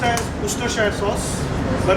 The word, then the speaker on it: Worcestershire: Worcestershire. What is the full form of Worcestershire? Pronounced as Worcestershire sauce, but it's spelled as Worcestershire.